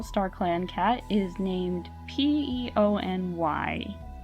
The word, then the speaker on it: Peony: Clan cat is named p-e-o-n-y peony I have no idea how to pronounce his name I Googled it it's peony like the flower so peony or peony